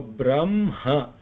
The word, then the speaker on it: Brahma: Like we talked about Brahma. When you look at it, it will look like ha is before ma, but when we pronounce the nasal letter first. So Brahma, ma, and then ha.